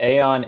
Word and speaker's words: Aeon: And we are here today with we decided it's pronounced Aeon, right? That's how I say it. That's right, yes. Okay, good. Always a plus. So we're here with Aeon AI.